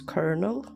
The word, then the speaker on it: colonel: why is it spelled col and and um pronounce kernel I or whatever I don't get it understood